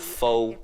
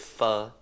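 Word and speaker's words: phở: It only takes 10 Pronouncing it wrong. So easy. Not pho, it's pho. I'm doing it with steak,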